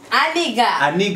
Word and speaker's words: aniga: It's not nigga, it's aniga.